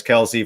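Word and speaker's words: Kelce: a lot of times yeah i've seen travis kelsey first round i've seen tj hawkinson second round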